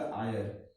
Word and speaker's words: heir: This is the pronunciation of the heir, not the higher.